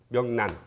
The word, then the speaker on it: 명란: 명란이라고 할 때는 발음이 어떻게 되냐면 난이거든요. 명란. 발음이 난 말하다. 명란, 명란젓 이렇게 발음이 나요.